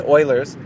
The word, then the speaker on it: Euler: He'd been thinking about Euler's formula, which is a way of forming a circle, or I'm sorry, it's Euler's. It's spelled Euler, E-U-L-E-R, but it's pronounced Euler.